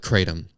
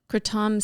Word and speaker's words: kratom: an american and call it kratom and that's what a lot of people do call it and it's fine if you call it that way it's really like calling a tomato a tomato kratom sounds sort of like